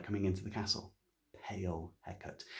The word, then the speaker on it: Hecate: Hecate, actual proper name Hecate, Greek goddess of witchcraft, but always pronounced in Shakespeare Hecate.